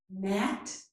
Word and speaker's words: gnat: of words, such as gnat and gnaw, and also at the end of many words. This is design and foreign. In each of these words, the letter G is silent.